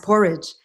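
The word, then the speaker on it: Poreč: So the little hotel that I stayed at in the seaside town called Porridge, excuse me, it's Porec, pronounced Porridge.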